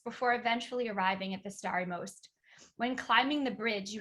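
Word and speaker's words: Stari Most: i've visited i think the starry most is it most or most sorry story most yeah you got it right okay good also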